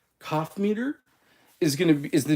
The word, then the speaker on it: Coffmeter: C like cough c o ff meter cough meter is going to is